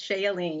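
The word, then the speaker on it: Shea Yeleen: us from washington d.c raham i'm not pronouncing that right uh shea of shea elaine hi hi roland thank you for having me yes it's shayleen you're probably okay all right then and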